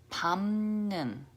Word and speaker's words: 밟는: Okay, this word is pronounced as 밟는, 밟는. Okay, there's no consonant here, but because of the consonant assimilation with and then all mixed together, it just crunched it all up and then turned it into a M sound.